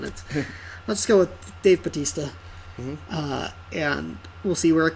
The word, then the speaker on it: Bautista: like his wrestling character Batista Batista Isaac am i okay just pronounce it like his wrestling persona because that's why I